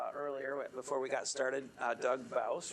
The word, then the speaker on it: Bouws: Doug Bouws, rhymes with house.